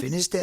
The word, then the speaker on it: Finisterre: Finisterre is good. Yeah, I mean, there's the Spanish. The Spanish have another pronunciation, but that's how we say it in English.